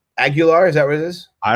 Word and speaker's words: Aguilar: You say it Aguilar. Aguilar, is that what it is? I don't know. It's like Jaguar.